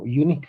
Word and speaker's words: unique: It's okay because this you sounds like you, like suena como consonante, por eso estamos uniendo vocal. Choque de vocal estamos permitiendo, porque la pronunciación es como unique, right?